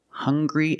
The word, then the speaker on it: hungry: Also, we have these two words, hungry and hunger. They also make the same sound with the nasal sound and the hard g.